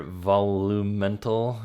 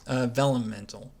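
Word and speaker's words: Vellumental: The fire volumental, am I saying it right? Velumental. Like vellum?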